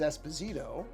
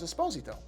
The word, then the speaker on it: Esposito: the name is Jean Carlo Esposito now often mispronounced as Esposito but it is not actually supposed to be